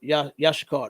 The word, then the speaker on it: Issachar: It said Yashikar. That's how you say it in Hebrew.